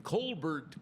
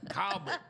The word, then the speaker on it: Colbert: C O L B R T. What does that spell to you? I would have just Well, I think that's just the way I say it, though. I just say it. Colbert. Well, I said I was very enunciative and I said, "And in Colbert County, you know, and Lauderdale and Colbert County." Ring ring. Oh, man. The phones lit up. Calbert.